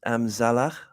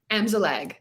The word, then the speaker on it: Amzallag: Okay, now, before saying I know I'm going to have to figure out your last name is pronounced Amzallag. Amzallag. Amzallag. Yeah. Yeah. A lot easier than it looks.